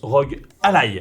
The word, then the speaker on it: ROG Ally: Ouais, ça se prononce ROG Ally.